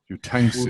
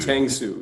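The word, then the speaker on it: Uytengsu: You can tell us how to pronounce Fred's last name. Tangsu. Tangsu.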